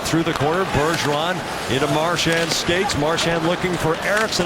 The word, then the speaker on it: Marchand: Bergeron bunts the puck wide to Marchand. If you're just joining us, that's how he wants his name pronounced.